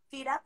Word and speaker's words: FYRA: Se llama, se escribe FYRA punto lab, como la laboratorio, solo la FIRA punto lab. Vale, estoy escribiendo. FIRA.